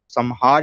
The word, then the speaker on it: संहार: ये अनुस्वार बन जाएगा, और हार का रहेगा हार, संहार या संहार, इस प्रकार से इसका हम उच्चारण करें।